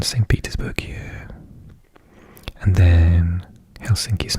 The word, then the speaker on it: Helsinki: there sant peterburg and helsinki or as is pronounced in finnish helsingi is just there and